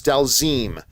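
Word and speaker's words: Dhalsim: yeah dalism uh dalzeem Bobby Jacks is saying the way it's pronounces delzim okay Adele seem dalzeem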